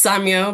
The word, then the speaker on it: Samia: My name is Samya. Um, I actually say the anglicized way and I realize I'm in a conversation with diaspora people. So, it's pronounced Samuel, but people um have butchered my name, so I've anglicized it.